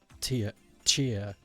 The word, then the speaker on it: Tchia: You pronounce it like Chia. Seeds with a T in the front. Chia.